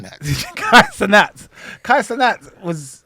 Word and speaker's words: Cenat: Kai Sanat is Kai. I'm saying his Kai name wrong. Cenat.